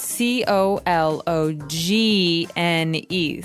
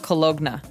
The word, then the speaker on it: cologne: It ends with uh it it's spelled C O L O G N E. So you don't really say the G. It's not cologna, right?